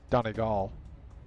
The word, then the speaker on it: Donegal: From Donegal that called it wet rain? Donegal. Is Get your emphasis on the right syllable.